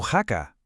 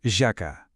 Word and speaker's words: haka: El secret està en la pronunciació. La H en maori es pronuncia com una jaca suau, com la nostra. Per tant, no es diu haka, es diu jaka.